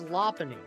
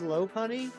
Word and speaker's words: Lopunny: a mighty it'll be glowing uh apparently it's lony I always said low Poney but uh Ary the other week consulted the